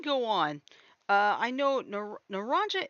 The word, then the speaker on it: naranja: on uh i know naranja it's actually in spanish it's actually pronounced naranya because that's actually that's